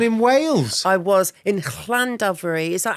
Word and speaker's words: Llandovery: I was in Llandovery. Is that how you pronounce it?